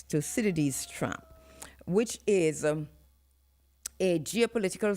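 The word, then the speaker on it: Thucydides: It's spelled t h u c y d i d e s to citades trap which is a geopolitical theory suggesting that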